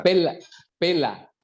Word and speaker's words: Pella: Pela. O se escribe Pella. pero es pela, Freddy.